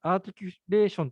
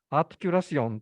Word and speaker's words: articulation: 葉なので、英語でアーティキュレーションと発音しないで、フランス語風にですね、アーティキュラシオンとかって